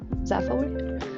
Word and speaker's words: Zaphod: That's how you pronounce the character from Hitchhiker's Guide, Zaphoid.